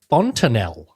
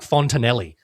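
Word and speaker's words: fontanelle: Word of the week this week is fontineel.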